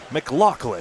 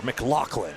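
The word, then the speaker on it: McLachlan: McLaclin like a yakador McLaclin. That's how you pronounce it.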